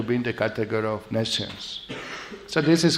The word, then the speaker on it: nescience: Some say nescience, some say nations, different pronunciation, British and Americans, no? How do you say? You're a good English teacher. This word is unusual. We went to internet and somebody said nations. Nations. Nescience. Not science, nescience.